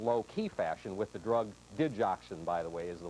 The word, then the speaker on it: digoxin: Secondly, uh he is being treated in low-key fashion with the drug digoxin, by the way, is the way it's pronounced.